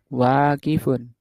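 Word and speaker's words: واقفٌ: Wya panjang wunya panjang waqifun.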